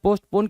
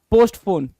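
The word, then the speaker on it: postpone: is what पोस्टपोन कहलाता है क्या कहलाता है पोस्टपोन कहलाता है और इसकी भी स्पेलिंग में भी बहुत ज्यादा कंफ्यूजन होता है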